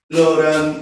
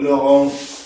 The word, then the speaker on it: Laurent: Teorema de Laurent o Laurent, dependiendo si uno quiere pronunciarlo bien o pronunciarlo a la española.